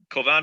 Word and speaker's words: Kovan: Kovan. Did I get it right, Kovan? Did I pronounce it right?